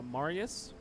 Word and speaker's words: Marius: say his name uh not Maris I'm adding like extra letters as I always do uh Marius Marius yeah Marius was okay hi